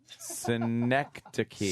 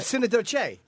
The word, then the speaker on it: Synecdoche: Someone is saying it's pronounced synecdote. Synecdoche.